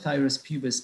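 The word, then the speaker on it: Phthirus pubis: And then for the thyrus pubis, pH is silent, you can get the medication, pH is silent.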